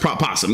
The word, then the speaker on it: opossum: remember drum kid okay North America is opossum all right cool yeah they're both pronounced possum yes I I'll still